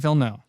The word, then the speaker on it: Villeneuve: Denis Villeneuve. It's French. Yeah. I mean, Or duh. Villeneuve. Je ne sais quoi. so basically in French, you just say about half the word Yeah.